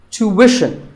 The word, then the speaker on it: tuition: But after that, it's not ishin, it's wishin. Tuition. You have to put the w sound there.